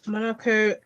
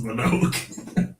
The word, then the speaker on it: Mononoke: Callum says Princess Monaco did. Princess Mononoke. She didn't know how to pronounce it at the time.